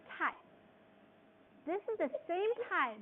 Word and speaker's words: 太: You pronounce it tai.